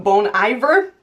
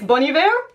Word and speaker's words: Bon Iver: exile feet bonnie ver i actually thought you were supposed to pronounce his name bon iver apparently it's bunny bear i don't even know anymore and the prompt for